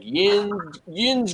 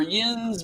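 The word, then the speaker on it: yinz: you're in Pittsburgh they they use a word called wins see it what it's it's the way they spell it is y-i-n-z yin's is how it comes out so they always say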